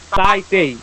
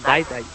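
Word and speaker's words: 大体: সময় এটা বলা হয় তাই তেই তাই তেই মানে হচ্ছে প্রাই মানে তাই তেই শব্দটা হচ্ছে তাই তাই সরি এটার উচ্চারণটা হবে ডাই তাই দা মানে কি প্রায়ই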